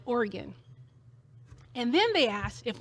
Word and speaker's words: Oregon: They said Oregon. I said, "We pronounce it Oregon."